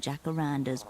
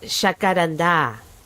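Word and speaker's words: jacaranda: It's pronounced shakaranda. I'm sorry. I just have to be petulant about it. Spanish is my first language.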